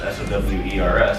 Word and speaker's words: Sowers: last name, I've known it to be as Sowers, S-O-W-E-R-S.